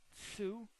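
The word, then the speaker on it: sew: vocabulary that we have Sue so this is how to say it sue to join two pieces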